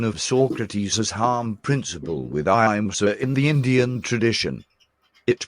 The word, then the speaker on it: ahimsa: Etymologically, the word ahimsa, in Sanskrit, literally means Why not pronounce it ahimsa? Ahimsa, ahimsa. ahimsa, Not Haimsa. Ahimsa.